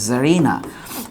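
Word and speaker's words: tsarina: আসেন, সুলতান থেকে যদি সুলতানা হয়, জার থেকে নাউনের ক্লাসে পড়ছি জারিনা, এই জিনিসটা উচ্চারণ হয়, টিটা সাইলেন্ট থাকবে, সরি, টিটা সাইলেন্ট থাকবে, এস দিয়ে বা জেড দিয়েও শুরু হয়, অনেক সময় বানানটা এই নামেও থাকে।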